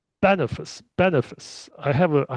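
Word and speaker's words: Boniface: Well, his successor is going to be this guy Bonafas. Okay, so it's Bonafice. Bonafice. I have a I have a hard time to pronounce his name. Bonafice. Bonafice. Okay, so I keep I keep saying Bonafas because it sounds more French, but it's Bonafice.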